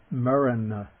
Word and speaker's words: maraṇa: n the end in the word for death mariner now the dental okay the voiceless the t